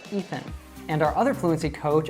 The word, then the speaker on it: Ethan: Like people will call me Eitan or Etan or Athan or anything like that, and actually it should be pronounced Ethan, Ethan.